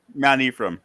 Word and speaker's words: Mount Ephraim: How do you pronounce the name of your town? Mount Ephraim.